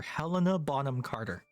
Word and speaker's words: Helena Bonham Carter: Helena Bonham Carter is the correct way to say her name.